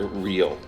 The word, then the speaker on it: REO: also of note is the pronunciation of the vehicle's name which is as one word real the rise to prominence of the band REO Speedwagon In the late